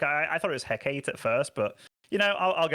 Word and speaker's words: Hecate: goes back to on Hecate. That's how you say it. You're going with it. It's literally Hecate. What you see, what you hear if you Google it.